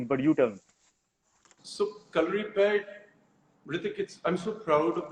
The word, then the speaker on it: Kalaripayattu: it but you but you tell me so color repaired with i'm so proud of the fact that